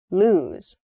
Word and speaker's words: lose: loose loose and loose you can hear maybe the the difference in vowel sound loose and lose uh so loose is